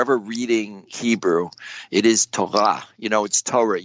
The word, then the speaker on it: Torah: heard that either well in Hebrew the accent is on the last syllable so if you're ever reading Hebrew it is Taha you know it store